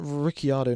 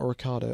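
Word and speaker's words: Ricciardo: It's pronounced Riciardo, not Ricardo.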